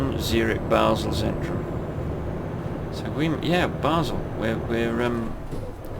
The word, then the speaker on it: Basel: Like, I said Basel, but Basel is how the German speaking side of Switzerland pronounce that city, but the French speaking side of the city pronounce it Basel, not Basel.